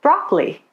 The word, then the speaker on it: broccoli: Dropped syllables are syllables that many people don't pronounce in the middle of a word. They're usually unstressed. For example, we usually say broccoli, separately, camera.